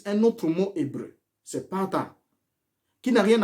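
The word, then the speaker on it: פתה: » Ici, le terme « séduit », c'est le mot hébreu « pata ». Pata qui s'écrit P-A-T-H-A-H.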